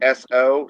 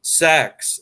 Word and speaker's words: Seaux: Oh, well, it's French, so it's pronounced so, like S-O, so. So that's where the So and So Studios comes from. Yeah, exactly. It makes sense because Chris Osborne had pronounced it like sex, and I'm like, well, I thought it was like, and so no, we're both wrong. It's so.